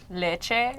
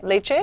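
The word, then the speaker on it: leceh: Leche. Leche. Leche. Leche, like dulce de leche, like milk. No.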